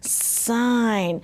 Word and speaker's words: sign: Now, some of you guys said the ihh sound, ss in. That doesn't make sense. Remember, when doesn't make sense, change it to the long vowel. And, that's what I did in my head. I just did it so fast you didn't see it. But, as you're becoming better readers and writers, remember to switch those vowel sounds.